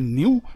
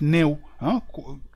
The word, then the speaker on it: Néou: D'ailleurs, ce Nyak-là, c'est-à-dire perdre, les Wolofs vont dire Néou. Et les autres vont prononcer Niou, mais c'est en fait Néou.